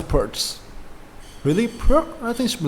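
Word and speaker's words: Pirc: Perk? I think it should be like perk. Yeah, I mean, I always pronounce that like perk. Maybe I was wrong. Thank you, Trigger, for that. Purse.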